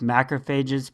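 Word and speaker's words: macrophages: you can remember that it's macro phages because it rhymes with cages or if that doesn't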